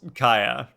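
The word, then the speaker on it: Kaeya: I mean, Kaya is pronounced Kaya.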